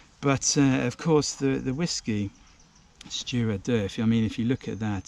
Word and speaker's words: Stiùireadair: But looking up, this is actually how you say it. So Stiùireadair, Stiùireadair.